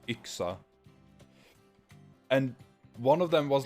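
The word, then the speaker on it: yxa: ax in Swedish and it's spelled y x a and pronounced ixa and one of them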